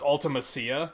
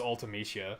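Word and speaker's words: Ultimecia: was like oh okay I used to think it was ultimasia until Dissidia and they were like it's ultimatia I was like oh that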